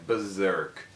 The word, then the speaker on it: Berserk: Essa palavra em inglês do mangá, a gente fala berserk, tá? É assim que se pronuncia, berserk. Esse S aí ele tem som de Z, tá?